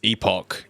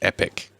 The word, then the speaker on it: Epoch: Okay, depends if you're British or American. If you're British, it's Epoch. If you're American, it's Epic.